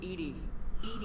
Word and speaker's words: EDI: airlock is a jar why are you named edie is the phonetic pronunciation of edi that is an acronym for